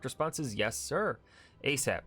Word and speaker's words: ASAP: response is yes sir asap pronounced a sap an acronym as soon